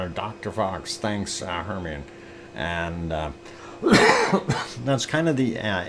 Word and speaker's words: Hermione: And Hermione is pronounced Hermione.